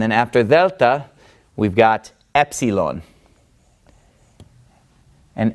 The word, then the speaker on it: Epsilon: the lowercase Epsilon and Epsilon makes the a sound now remember the Greek alphabet the first sound sound of the name of the letter tells you what sound that letter makes so Alpha says a Vita says V GMA says G Delta says the and then Epsilon says e e Epsilon now the good